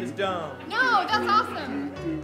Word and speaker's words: Dohm: my last name is Dum no that's awesome oh you pronounce it dum I was pronouncing it D no I'm not on